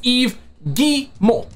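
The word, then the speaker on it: Guillemot: gentlemen French EO gimo it's not hard to pronounce it a lot of people have a difficult time pronouncing the CEO names it's eve G Mo Okay g Mo okay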